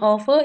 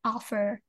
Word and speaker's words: over: Nah, kalau tapi kalau Miss Yani pengin kedengaran seperti native speaker, mereka R-nya hilang.